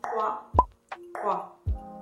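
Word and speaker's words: Qwaqwa: The Q is pronounced that makes that sound, and when you combine the and the W, it makes the kwa, kwa, kwa.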